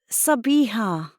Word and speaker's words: Sabiha: the easier option because most Australians had to be taught to pronounce the h in my name and then there was